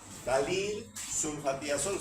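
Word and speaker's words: ftalilsulfatiazol: Entonces tenemos este medicamento no no lean y no se compliquen con está F así se escribe pero se lee dalil de una vez de aquí dalil sufati azol no se preocupe por esa é dalil sulfatiazol se llama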